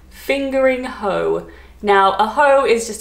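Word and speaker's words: Fingringhoe: so i'm gonna say i think it's pronounced in essex fingering hoe now a hoe is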